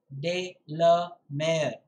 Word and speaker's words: de la Mare: walter de la mer remember the pronunciation walter de la mer that is how you should pronounce it what are we going